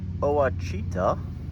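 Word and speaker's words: Ouachita: All right, and then one last thing I wanted to show you out here in the garden is we have this Oachita, that's how you say it, thornless blackberry from Stark Brothers.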